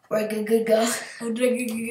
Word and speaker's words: Regigigas: I used to never be able to pronounce that. Regigigas.